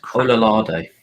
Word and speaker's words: Ololade: I'm just Ololade.